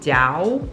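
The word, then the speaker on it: Daou: including um one called Dao d a o u u o I don't know it's pronounced Dow though and like I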